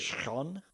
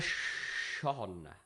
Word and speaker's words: Schon: Kyra. Is it? Sean? Yeah. It's spelt Kyra space Schon. Kyra Sean.